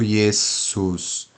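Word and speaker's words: Iesus: ou re Rina Rina o s possui o som de s desvozeada pode se flexibilizar para um som levemente vozeado quando o s está entre vogais por exemplo yesus veja o que que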